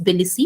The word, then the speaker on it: Tbilisi: So Tbilisi Declaration, T is silent, so it's Tbilisi, it's a place in Georgia.